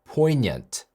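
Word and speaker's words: poignant: 번째 단어는 4a net poinient poinient입니다 이거 포이그넌트 아닙니다 포이그넌트라고 생각하신 분 꽤 많았을 것 같습니다 그다음 카오스가 아니라 KS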